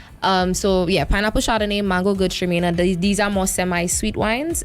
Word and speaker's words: Gewürztraminer: Yeah, so we have pineapple Chardonnay, we have mango Gewürztraminer. I know a lot of people don't know how to pronounce the G one, it's German. So yeah, pineapple Chardonnay, mango Gewürztraminer.